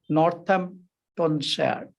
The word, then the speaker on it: Northamptonshire: Neil, who is medicine doctor, University Hospitals University Hospital of Northamptonshire.